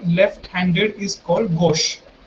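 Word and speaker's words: gauche: Left handed का एक French word भी है which is gosh, which is pronounced as gosh.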